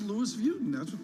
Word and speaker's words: Louis Vuitton: know I understand she's got you know it's Louis Vuitton is that how you pronounce it yeah okay yeah James I think